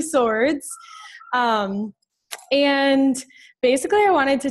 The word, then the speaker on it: Sowards: If you see my name, you'll probably pronounce it like Sowards. That's what everybody does, but it's actually Sowards.